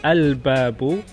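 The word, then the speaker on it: الباب: And introduce the definite article al-babu. So you pronounce the lam, means the door.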